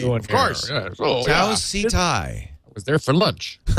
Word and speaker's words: Tau Ceti: So I completely understand, Katie, if you know the right pronunciation, and we keep saying it wrong with some authority, that's annoying. Tau Ceti, of course. Tau Ceti.